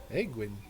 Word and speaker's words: Egwin: That would be Egwin. Egwin. Did I pronounce that right? You did. Egwin Roseweaver.